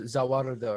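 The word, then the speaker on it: ザ・ワールド: For the English, they had to say behold the world instead of like just the world because Zawarudo, that's Yeah. 4 syllables, the world is 2 syllables, so it's like what do you want me to do?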